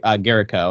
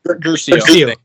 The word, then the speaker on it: Guercio: Also, too, fun fact about James William Garrico, or is that how you say it? Guercio.